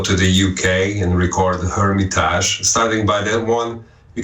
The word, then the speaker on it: Hermitage: But I prefer the French because it's an original word in French, and it just sounds a little bit more metal, and it sounds a little bit more raw than Hermitage. And I was afraid that people will make the mistake in saying the age of the hermit age.